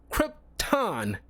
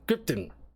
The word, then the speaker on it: Krypton: it's you know symbiot and it's Krypton it's how you pronounce it it's no gray area with that that's why it bothers so many people and so when I hear like him pronouncing gripon it's like that's not how you freaking say it uh God bother me